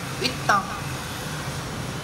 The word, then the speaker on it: huit ans: Huit ans, nối bằng âm tờ.